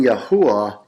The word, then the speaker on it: Yahuwah: wha hey now again there is a correct pronunciation to that so it isaiah 42:8 reads I am yahuwah that is my name